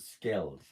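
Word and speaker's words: Skald: other one is uh I pronounce it scales s-k-a-l-d and they have some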